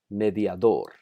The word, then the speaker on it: mediador: que se desea enfatizar por ejemplo mediador note el acento en la última sílaba esposa el acento está